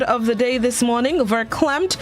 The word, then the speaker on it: verklempt: of the day is verklempt verklempt it's spelled v-e-r-k-l-e-m-p-t ver klemt it is an adjective